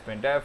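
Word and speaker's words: sprintf: When you want to convert a number to a string, we can use either sprint f pronounced sprint f or sn print f.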